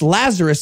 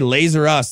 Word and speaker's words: Lazarus: You don't even say it right. It's Lazarus. It's supposed to be a reference to Lazarus. We don't even say it. We say Lazer Us.